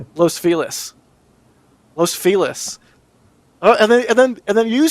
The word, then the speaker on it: Los Feliz: I live in a spot of LA called Los Feliz, and I call it Los Feliz because Feliz Navidad.